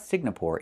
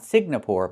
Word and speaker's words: Singapore: It's not Singapore. It's Singapore. The NG makes a sound M in your nose. Sing like when you sing a song together. Singapore, not Signapore, but Singapore.